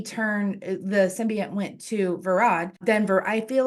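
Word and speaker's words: Verad: I said his name wrong too. It's Varad.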